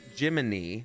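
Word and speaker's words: Jiminy: guide system that is spelled Gemini pronounced gimin like gimin Cricket like Pinocchio pinai the Italian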